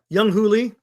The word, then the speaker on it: Jung-hoo Lee: Lee, Jung-hoo Lee, that's how you say it? Jung-hoo Lee.